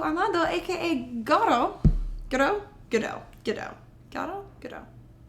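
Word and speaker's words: Godot: aka Goto Gauo Gdau GDo Gdo. G O D O T. The T is silent.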